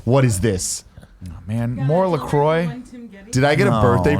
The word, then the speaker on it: LaCroix: it says hibiscus liqueur a sparkling water announced pronounced Lacroix was developed to give health-conscious consumers refreshment flavor